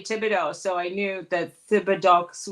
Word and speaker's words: Thibodeau: Thibodeau, not Thibodeau.